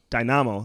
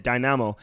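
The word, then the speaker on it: Dinamo: you're playing for for dynamo like you say oh sorry we always called that dynamo dynamos is is the right way to say it can I mean so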